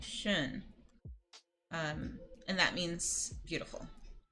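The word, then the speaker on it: schön: that means already but I'm making a a really scrunchy o mouth but I'm kind of saying e I'm saying shun um and that means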